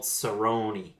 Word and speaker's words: Cerrone: He goes, Donald Cerrone. Donald. Cowboy. He's been microdosing mushrooms, Craig. Cerrone.